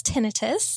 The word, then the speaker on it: tinnitus: pronounce the word properly i'm sure i would have said tinnitus right right but but the the ringing in the ears that the is that the thing we're talking about so um we in the audiology community pronounce it as tinnitus well then that's what